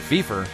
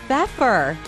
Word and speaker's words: Pfeffer: ceramic floors right in time for spring at beefer no it's pepper oh yeah pepper is known for quality customer service at an everyday affordable price listen to your home and see pepper today it's pronounced pepper we stand for phenomenal